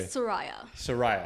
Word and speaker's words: Sooraya: Is that how you pronounce the name? Close. Close. How do I do it? Please correct me. Sooraya.